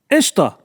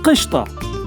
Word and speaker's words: ishta: cool urban dictionary t-shirt today's word is ishta ish it can also be pronounced as krista ishta is an arabic